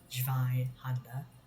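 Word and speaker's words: Zweihänder: None of you YouTubers should be pronouncing it Zweihander. It's not French, it's German. Zweihander, German.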